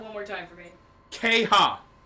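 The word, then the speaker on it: Qeyha': forgetting that door exists Jackie kha I'm sorry pronounce that one more time for me kha q e y h a apostrophe kha kha I love that and I'm going to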